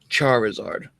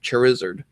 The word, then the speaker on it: Charizard: at it, say it, the actual pronunciation is Charizard. I can see that some people would say Charizard, but to each his own.